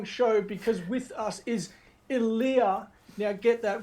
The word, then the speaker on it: Ilia: as well, is a lot of people will say Ilia. Yep, I've been doing that. Yeah. Yeah. So I will admit straight away, I went straight to the Ilia, but I'm glad I know how to say it properly now.